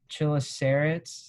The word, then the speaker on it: chelicerates: And then so going into like the different kinds, chelicerates, how do you say it?